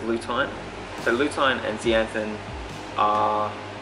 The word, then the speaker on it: lutein: the body so I just realized monthly pronounced lue time so lutein and zeaxanthin